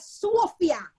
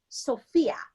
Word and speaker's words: Sophia: So it's no longer Sophia, as the Jamaicans call me. It's Sophia. So, and It's rhyme with Kuya. Kuya. So there you go. For the Jamaicans now, I can tell them, say Kuya, Sophia.